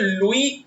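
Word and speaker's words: Louis: लुई pronounce करना है ऐसे silent, लुई Mountbatten and सी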